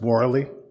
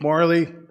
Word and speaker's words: Morley: of my English father my surname is pronounced morally so he'd be scolding you right now I apologize no problem again my name's Morley um you know basically